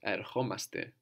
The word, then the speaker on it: ερχόμαστε: And with the accent on the O, omaste. So we're coming, we come. Ερχόμαστε. Erchomaste.